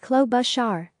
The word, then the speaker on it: Klobuchar: of Christ other facts her last name is pronounced Clos Bashar has noted that she visits all 87 counties in Minnesota annually claw Beecher's daughter was born with a condition that prevented